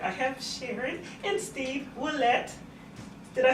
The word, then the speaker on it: Willette: And that's right, I have Sharon and Steve Willett.